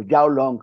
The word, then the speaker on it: Zhao Long: chinos muy importantes como yao long yao Aunque suene yao se escribe zhao long como long como de largo en inglés que es el